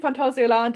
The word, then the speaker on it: Phantasialand: I'm pronouncing Phantasialand in an acceptable way, which is good.